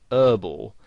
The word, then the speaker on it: herbal: they would pronounce it whereas in british english you would pronounce the h and you would say herbal essences and you might also